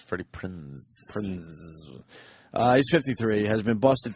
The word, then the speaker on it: Freddie Prinze: I used to say Prince. No. Freddie Prinze. No, it's Freddie Prinze.